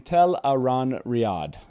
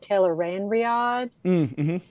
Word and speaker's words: Tel'aran'rhiod: pronunciation there you go robert jordan at a 2003 uh i think it's crossroads twilight uh uh signing report explain it to the crowd by saying tell a ron riyad there you go teleron